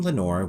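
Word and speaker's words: Lenore: The name Lenor, which rhymes with Nevermore, comes from the famous Poem, The Raven.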